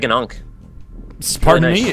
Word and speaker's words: Ankh: Yeah, it's like an Ankh.